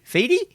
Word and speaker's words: Fede: Fede? Fede?